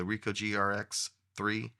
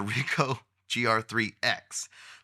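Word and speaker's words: Ricoh GR IIIx: be my everyday carry the R grx 3 that's probably not how you say it the RICO gr3 X this is my everyday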